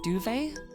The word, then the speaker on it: duvet: Like, I'm pretty sure duvet is from French, like a duvet cover, and that's got a T on the end. And because it is French, you do not pronounce the T.